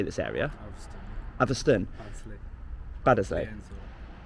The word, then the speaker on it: Atherstone: Atherstone.